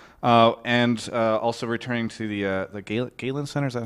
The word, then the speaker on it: Galen Center: at Staples Center and also returning to the Galen Center. Is that how you pronounce it? Yes. Galen Center.